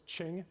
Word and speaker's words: Qing: In 1644, China's Ming Dynasty was succeeded by this one that rhymes with Ming, also called the Manchu. Troy. What's Qing? It is the Qing Dynasty.